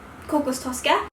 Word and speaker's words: kokostosca: pronouncing that right but in swedish we say kokostoska so i'm just going